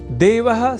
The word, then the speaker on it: देवः: यहाँ देवः इस शब्द के उच्चारण में ए इस अक्षर का विशेष ध्यान रखे जाने की आवश्यकता होती है। अर्थात ऐ इस अक्षर का प्रयोग हमें नहीं करना होता, क्योंकि देव तो ईश्वर